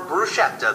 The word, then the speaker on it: bruschetta: You call it bruschetta, the way the Italians do, or bruschetta, the way almost everybody else does.